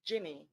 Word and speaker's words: Jinny: you grant and it's it's jinny like ginger okay thank you um